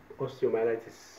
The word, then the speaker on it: osteomyelitis: I can't pronounce it really well. How do you say this, doctor? It's osteomyelitis.